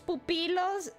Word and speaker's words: pupilos: In Spanish, pupilos, in Spanish it's not quite the same.